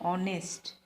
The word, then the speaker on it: honest: R, h यहाँ पे silent है. Okay, h is silent here. ऑनेस्ट, here h is silent.